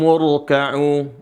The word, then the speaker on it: urka'u: Huruf ra di sini dibaca tebal.